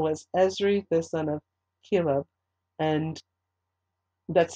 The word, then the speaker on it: Chelub: And over those who did the work of the field for tilling the soil was Ezri, the son of Chelub, and that's spelled C-H-L-U-B.